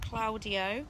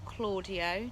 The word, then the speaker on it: Claudio: of aragon we have claudio or claudio depending on how you pronounce it who is a